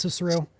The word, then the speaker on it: Cicero: Is this called Cicero? I believe that's pronounced Cicero.